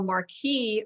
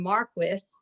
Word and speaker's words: Marquis: And a Marquis who's who was started in 1898 by Albert Nelson Marquis, and that's how he pronounced his name actually.